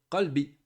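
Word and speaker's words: قلب: veulent dire mon cœur, ils vont dire qalbi. Mais s'il se trompe, et il prononce comme ici, il va dire kelbi. C'est pas la même chose. Qalb, Oui. c'est le cœur, kelb, c'est le chien.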